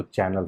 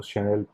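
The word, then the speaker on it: Chanel: अब जो उसका स्पेलिंग होता है वो उसको आप पढ़िएगा तो चैनल हो जाता है, लेकिन उसको शनेल प्रोनाउंस किया जाता है।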